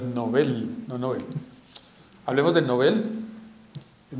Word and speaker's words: Nobel: moda ahora otras cosas la pronunciación correcta es novel no hablemos del nobel